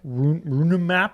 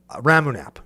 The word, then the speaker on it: Ramunap: I like Runamap Excavator. Oh, Ramunap Excavator, that's a good one. Did either of us say it right? Ramunap. Is what it is.